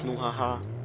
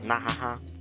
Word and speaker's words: Nauhuahuh: It's Nauhuahuh, Nauhuahuh, Nahaha, or if you're deep, you say it like Ooh la la la la la la.